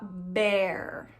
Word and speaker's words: bear: Escreve B-E-A-R, mas se fala bear. Bear.